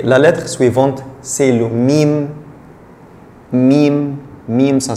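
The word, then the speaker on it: ميم: Et la lettre suivante, c'est le mim. Mim, mim, ça s'écrit comme ça.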